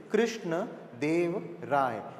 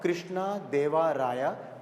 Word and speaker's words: Krishna Deva Raya: Okay, again here the pronunciation is Krishna Dev Rai, not Krishna Deva Raya, though it is written with an A.